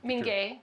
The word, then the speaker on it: Minge: We have with us Carol Lopez, who is site manager at Casa San Ysidro, the Gutierrez, how do you pronounce it? Minge.